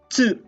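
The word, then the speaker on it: つ: It's chi and tsu. Okay, listen very carefully. Tsu. It's not chu, alright? Tsu. Para siyang when you pronounce cats, di ba? TS yung huli. And then lalagyan nyo lang ng U.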